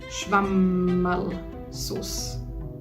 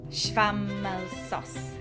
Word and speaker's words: Schwammerlsauce: So, the dish is pronounced Knödel. Knödel. And the sauce is Schwammerlsauce. Schwammerlsauce.